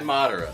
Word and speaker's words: Madara: no, I say Madara.